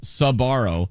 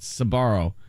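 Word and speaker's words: Sbarro: Family's last name is s-b-a-r-o pronounced sabaro some people elongate the Su and make it sabaro but no the sir gets truncated by the bar it might look sound like Sparrow it doesn't say that that last part you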